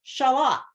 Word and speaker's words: Charlotte: Upstate New York and there's a little little area that is pronounced shalot he wrote it down for me one time and it's spelled Charlotte so we could make